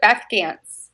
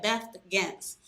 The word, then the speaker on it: Beth Gantz: This is the lovely Beth Gantz. I pronounce it right, or did I butcher it again? It's a Beth Gantz. Okay, Beth Gantz.